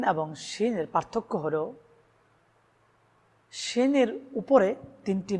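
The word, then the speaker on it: شين: সিনের আওয়াজটা একটু চিকনো হয়, শিনের আওয়াজটা একটু মোটা হয়।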